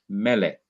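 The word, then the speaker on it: מלך: means king in English the me melik SE is an open syllable and it is also accented so you'd have the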